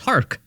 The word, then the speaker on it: HARK: It's not a silent K. It's a hard K. It's HARK.